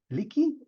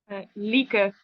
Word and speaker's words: Lieke: How do you pronounce it? Licky? Lieke. Lieke.